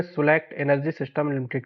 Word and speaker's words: Swelect: देखिए, बहुत से लोग इसको एसडब्ल्यू इलेक्ट बोलते हैं, बहुत सारे लोग इसको अलग अलग नाम से जानते हैं, लेकिन इसका सही जो प्रोनाउंसिएशन है गूगल के हिसाब से वो सुलेक्ट एनर्जी सिस्टम लिमिटेड है।